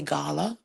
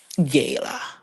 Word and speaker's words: Gayla: a word the first the first vowel is going to say its name now exceptions to the rule the Jamaican in me will say Gala but if we're trying to be you know phonetically correct and all of that Gayla anyways that was a